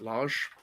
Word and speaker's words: Lage: How do you pronounce that? Like that? Lage.